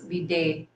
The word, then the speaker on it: bidet: So now I know that the correct pronunciation of bidet is bidet.